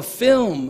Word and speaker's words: film: flim like Oh a film okay but in Trinidad flim is it acceptable pronunciation as well yes thank you for